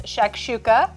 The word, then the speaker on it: shakshuka: it's easier to cook than it is to pronounce. I promise that it is. It's shakshuka.